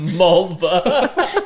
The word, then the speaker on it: Mulva: Mulva. To rhyme with vulva.